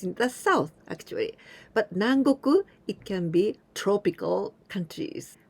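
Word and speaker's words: 南国: people adding this kanji minami it means the south but here we pronounce nang and nang goku the countries in the south so countries in the south actually but nangoku it can be tropical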